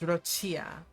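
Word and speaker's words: Roccia: It's Rochia.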